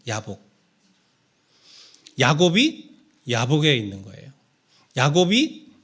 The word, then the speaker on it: 얍복: 감안하고 들으십시오 발음을 야곱인데 얍복은 히브리 말로는 뭐라고 발음하냐면 야복이라고 발음을 해요 예 야복 야곱이 야곱에 있는 거예요